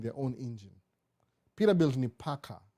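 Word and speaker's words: PACCAR: Peterbilt ni Packard. P-A-C-C-A-R. Kama Packard.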